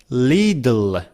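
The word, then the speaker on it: little: pronounce is this one हाउ यू से इट लिटिल लिटल लि one well नेटव speaker से लिल instead of saying it's अ लिटल hard they से इट्स अ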